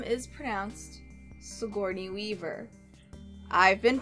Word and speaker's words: Sigourney: that Alexandra is actress her name is pram Sigourney Weaver I've been pronouncing it wrong has to journey because I